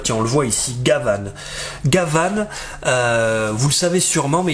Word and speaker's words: Gavan: petites anecdotes et finalement Gavan et bien c'est la façon de prononcer Jean Gabin Gabon en japonais qui était très populaire